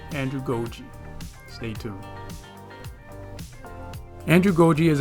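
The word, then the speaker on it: andragogy: adult focusing and learning i said it right the first time andrew goji stay tuned andrew goji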